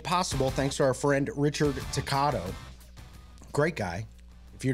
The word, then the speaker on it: Richard: He likes to pronounce Richard. You got to roll the R. Yeah, as long as you can roll it. Richard.